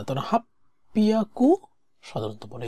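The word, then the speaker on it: 八百: half পিয়াকু এন দেস হাচি বিয়াকু সাধারণত বলে না হিয়াকুও বলে না এগুলা বলে না তারা হাপ্পিয়াকু সাধারণত বলে এটা হচ্ছে উচ্চারণগত সুবিধার্থে তারা ব্যবহার করে যা জো ইচিবান দোয়োবি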